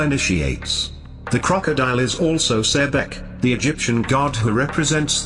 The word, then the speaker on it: Sebek: His name Sebek is the crocodile, originally pronounced Sbek.